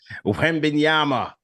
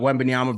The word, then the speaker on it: Wembanyama: Make sure you pronounce the name as Tad from New Jersey. Wembanyama.